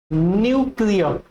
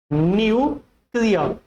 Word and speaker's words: nuclear: The correct pronunciation is न्यूक्लियर। न्यूक्लियर।